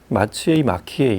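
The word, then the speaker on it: Maciej: 그리고 또 하나 아들 이름이 이제 마치에이 이렇게 부르는, 마치에이라고 하는, 이제 좀 더 그게 발음이 가깝다고 하는데, 마치에이 라코프스키.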